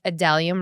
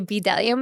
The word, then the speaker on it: Bdellium: So this is a Delium, right? Because the B is silent. So I used to say Bdellium, but then I got schooled.